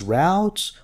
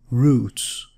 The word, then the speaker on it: routes: New routes, this can be pronounced as routes or routes.